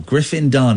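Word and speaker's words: Dunne: and then Griffin done so two syllables and one syllable Griffin dun you could see how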